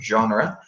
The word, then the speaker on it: genre: movie genres so remember this is a French word so we pronounce it in a French way in genre and it's to say